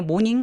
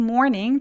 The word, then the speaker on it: morning: morning the next morning morning 아니에요 모닝 아니고 morning 더우기 할 때 m 있죠 more 그렇게 이렇게 소리 내 주세요 the next morning 다음날 Jack decides to